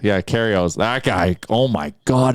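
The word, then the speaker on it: Kyrgios: Like Gregarios, or how do Nicholas, the Australian Karios. The G is silent. Yeah, Karios.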